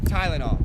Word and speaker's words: Tylenol: especialmente de Pernambuco, eles têm esse T igualzinho do americano, que é com um pouco de ar, né? Você tem que falar assim, com o nordestino, né? Como o nordestino de Pernambuco. Pernambucano sabe pronunciar Tylenol.